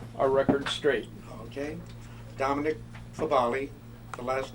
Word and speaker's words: Fabale: Dominic Fabale, the last name F-A-B-A-L-E.